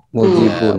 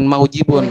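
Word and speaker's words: مُوجِبٌ: Berarti dibaca Mujibun. mujibun. Jangan maujibun, itu sulit.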